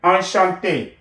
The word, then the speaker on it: enchanté: Enchanté, enchanté. Okay, the sound remain the same whether you have another E at the end or not. Right? This refers to a feminine speaker, but the pronunciation is the same.